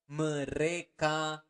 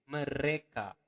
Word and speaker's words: mereka: Mereka makan. Remember to pronounce the R um, clearly. Mereka. Okay, re. Mereka makan.